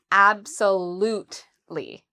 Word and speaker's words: absolutely: Uh, so the stress is on the third syllable. We would say absolutely. So, there's four syllables in in total.